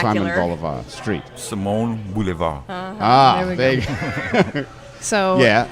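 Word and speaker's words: Simon Bolivar: in the How do you local pronounce vernacular. Simon Boulevard Street? Simone Boulevard.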